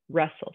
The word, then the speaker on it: wrestle: So when I say the boys will wrestle in the wrestling match, we don't say "we'll wrestle," we say wrestle. So that W is our silent letter, or your wrist, right?